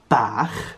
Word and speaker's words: bach: And this is pronounced CH. It's a very guttural noise. So in a word, for example, the word bach, which means little in the Welsh language, this is how you pronounce it.